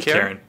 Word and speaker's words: Kirin: I'd say Kirin. Like the beer.